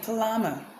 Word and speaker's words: plumber: Okay, let me give you a simple clue to identify when the B's will silent there. When you notice MB MB MB MB like comb womb tomb climb.